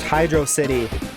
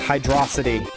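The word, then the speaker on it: Hydrocity: pronounced Hydro City or is it pronounced hydrosity when I was young I would say hydrosity but now I say Hydro City it really doesn't doesn't matter I don't care either way that's just how that's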